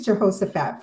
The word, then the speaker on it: Jehoshaphat: I think it's Jehoshaphat.